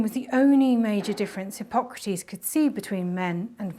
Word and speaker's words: Hippocrates: chronic fatigue was oh hippocrates there are different pronunciations hippo crates if you're an american and wrong you pull gratis in a questionable greek accent but for today we'll stick with hippocrates because the womb was